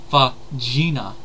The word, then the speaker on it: Fagina: Alata Fagina. Which I've actually found out something interesting, that if you actually were to go by Italian pronunciations, her last name would be pronounced Fagina.